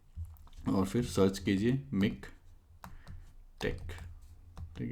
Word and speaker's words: TeX: तो इसको जो है टेक प्रोनाउंस किया जाता है, तो इसको मिक टेक कहते हैं हम लोग जनरली।